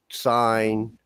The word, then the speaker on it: sign: And there's also the reason the G is silent in the word sign, right?